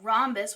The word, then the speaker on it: rhombus: So rhombus with a silent H.